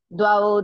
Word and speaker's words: द्वौ: Dvau trinekam tadardham va. Dvau trinekam tadardham va. Dvau trinekam tadardham. You should pronounce dvau. Dvau, okay.